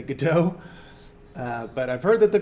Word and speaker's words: Godot: you know that there's some disagreement as to how to pronounce it I've heard both Godot and Godot I was a theater major so I'm gonna say good too but I've heard that